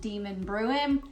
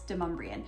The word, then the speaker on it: Demonbreun: Now I know that if you're looking at it, and even a GPS system, I believe, still calls it Demonbreun. That's not how you pronounce it, it's Demonbreun.